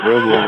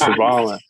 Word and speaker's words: Riballin: It's not Riballin, it's Riballin.